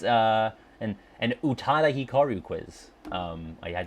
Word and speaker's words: Utada: it's uh and and Utada Hikaru quiz um I had to make sure I was saying it right because Frosty taught me that it's it's too it's like Utada not Utada come on um all